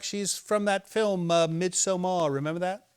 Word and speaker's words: Midsommar: Midsummer. No, it's called Midsommar. Very well. Midsummer. Midsummer. Is that what it means? Yes, Why don't they just say bloody midsummer? they do. No, they say Midsommar.